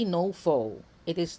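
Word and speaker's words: faux: So ano bang ibig sabihin ng no fo? First off, the word fo spelled f a u x. This is pronounced as fo tao fo char. So it reshmes with my name with a long o.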